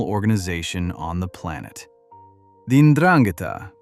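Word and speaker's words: 'Ndrangheta: The Ndrangheta, pronounced "oon-drang-i-tah", is the Calabrian mafia rooted in Calabria, the southernmost tip of mainland Italy.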